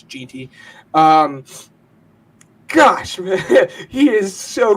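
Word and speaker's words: Jeanty: I pronounced it wrong. I said Gentry. I think it's Ginty.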